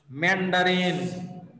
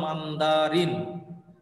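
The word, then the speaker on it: Mandarin: কেন স্যার এক নাম্বার ভাষা হলো ম্যান্ডারিন বাংলাতে উচ্চারণ হলো মান্দারিন মান্দারিন আর আসলে ভাষাটার নাম হলো ম্যান্ডারিন কি বললাম বলতো ভাষার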